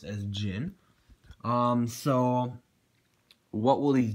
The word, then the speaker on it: Djinn: um so will these gin blades what will they be doing again it is pronounced Jin not the name is a little bit odd but the heavy brother say it's pronounced as Jin um so what will